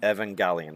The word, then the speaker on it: Evangelion: How do you pronounce it? Neon Genesis Evangelion. Evangelion.